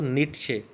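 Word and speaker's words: Nietzsche: उसके बाद शॉपेनहॉर और नीट्शे, ये दोनों लोग जो हैं, इसको हम शॉपेनहॉर प्रोनाउंस करेंगे और नीचे वाले को नीट्शे।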